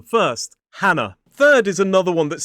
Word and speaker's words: Hannah: A-N-A, with the schwa at the end. Hannah. It is not Hannah. So 2 syllables, stress on the first. Hannah.